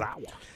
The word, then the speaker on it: Yusaku Maezawa: trip to the moon is a Japanese billionaire, Yusaku Maezawa. I think I pronounced that right. You got it. Oh, did I get it right? All right. Maezawa.